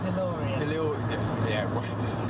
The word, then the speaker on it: DeLorean: DeLorean.